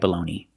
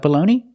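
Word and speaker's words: bologna: I don't really like balone what about you do you like baloney very good do you make baloney sandwiches very good and we have this balone it's spelled differently but has the same pronunciation we use this spelling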